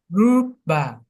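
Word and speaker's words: रूप: Rupa. Good, very good. Rupa. Rupa. Technically, it's two beats. Rupa, rupa, rupa. Rupa. Stay with me. Rupa, rupa, rupa. Good. So technically it's two beats like that, but we're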